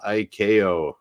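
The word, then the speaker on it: ICAO: a uh by an organization called Iko International civil aviation organization it is spelled like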